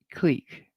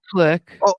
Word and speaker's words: clique: Or do you say it wrongly as clique? One for click, two for Objection, clique.